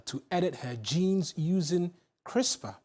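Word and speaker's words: CRISPR: historic clinical trial to edit her jeans using crisper pronounced uh four years on Victoria gray does not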